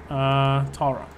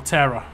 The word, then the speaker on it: Tara: Tara. Or Terra. Depends how you want to pronounce it.